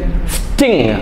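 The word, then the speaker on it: sting: പറയും സ്ലിങ് സ്ലിങ് എസ് ടി ഐ എൻ ജി സ്റ്റിങ് സ്റ്റിങ് എന്ന് പറഞ്ഞാൽ കുത്തുക എന്നർത്ഥം കുത്തുക ജീവികളൊക്കെ ഇല്ലേ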